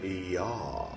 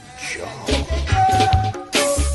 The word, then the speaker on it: Yah: uh the gray one is yaah as in ja you longtime viewers remember uh editor Edward let's show that clip the Divine name yah or as some folks pronounce it jaw we be forever